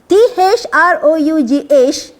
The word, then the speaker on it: through: T-H-R-O-U-G-H, the pronunciation is through.